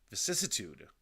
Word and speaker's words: vicissitude: vitude am I right vicissitude vicissitude I missed uh what do you call those things syllable yeah I missed a syllable in there vicissitude VI c i SSI